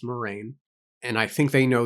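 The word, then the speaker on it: Moiraine: It's not Moira, it's Moraine.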